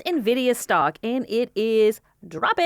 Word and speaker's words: Nvidia: it's titled Nvidia stock Nvidia Nvidia that's how you say it not Nvidia I know it's weird to look at it's okay in I